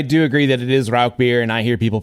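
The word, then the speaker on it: Rauchbier: will I I do agree that it is Rock beer and I hear people pronounce it Rous beer all the time and you know in the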